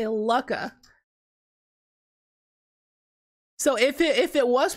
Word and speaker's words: Lukka: dude i'm telling you it's got two k's if it was luca it would have one k like the word luca l-u-c-a if you had two c's it'd be luck just like the word like